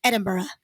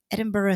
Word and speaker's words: Edinburgh: And he always, when he pronounced Edinburgh, the Japanese way to say Edinburgh is Ejimbara.